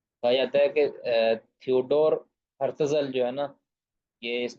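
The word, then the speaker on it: Herzl: ہے تھیوڈر یا تھیوڈر برتزل. برتزل نہیں، ہرتزل، سوری.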